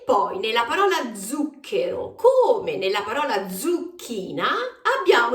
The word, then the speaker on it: zucchero: sia la più dolce zucchero o Sugar in questa parola abbiamo il suono della z z lo stesso suono che troviamo in parole